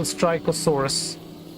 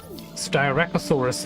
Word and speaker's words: Styracosaurus: An additional Styracosaurus. My apologies. I don't know why do I pronounce it Styracosaur. Styracosaurus.